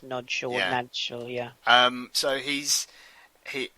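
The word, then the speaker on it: Nagy: hungar Hungary that's it it's spelled Naggy but I think you're right I think it's pronounced no NAD yeah um so he's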